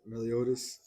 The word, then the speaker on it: Meliodas: Meliodas.